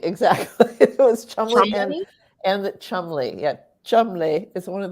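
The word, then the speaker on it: Cholmondeley: which one was it it is it is pronounced trembly very good even though it looks like charmandli charmandali exactly and the Chumley yeah Chumlee is one of those weird things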